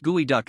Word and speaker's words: geoduck: The geoduck pronounced gooeyduck is the world's largest burrowing clam.